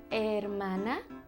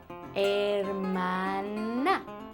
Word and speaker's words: hermana: Do you have a brother, un hermano, or a sister, una hermana? Brother and sister in Spanish is hermano y hermana. It starts with an H, but you don't really pronounce the H. Hermano, hermana, hermano y hermana.